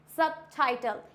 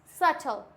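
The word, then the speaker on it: subtle: हो जाएगा ये डाउट सबटाइटल सब टाइटल नहीं होता है सबटाइटल होता है ये क्या हो जाएगा सटल क्लियर हो गया नेक्स्ट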